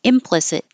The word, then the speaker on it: implicit: obvious and it's clear implicit I'm using a stress on M to do a contrast explicit implicit means that